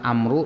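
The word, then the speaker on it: عمرو: ini hadisnya warna Jadi kalau tulisannya Amru dibacanya Amr sini kalau ada baunya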